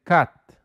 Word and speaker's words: cut: No se pronuncia cut, se dice cut. Cut. Así como con A. Cut.